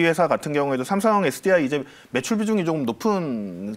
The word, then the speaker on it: 삼성 SDI: 제가 삼성 SDI인데 계속 삼성 SGI라고 발음했나봐요. SDI로 정정을 해드리겠습니다. 삼성 SDI 밸류체인 한솔 로지스틱스 저희가 먼저 첫 번째 종목으로 분석을 해봤고요.